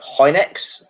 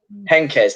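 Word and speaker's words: Heynckes: 2013 scene managed by i always get his name wrong jeff hinex yeah yep hankers henkes that's it thank you very much gav appreciate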